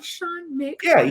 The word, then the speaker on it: Sean McArdle: I am joined by the one, the only, Sean McArdle. Did I say that right? You said it perfect. You like the way I broke it down? Sean McArdle. Yeah, we pronounced every syllable.